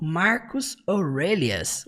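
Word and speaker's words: Marcus Aurelius: Embora a gente fala assim no português Marcos Aurélios, no inglês eles falam Marcos Aurelias, um pouquinho diferente, né?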